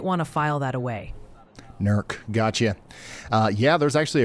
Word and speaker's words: Newark: Also, quick heads up, several folks are adamant that Newark, Ohio is pronounced Nerk. Might want to file that away. Nerk.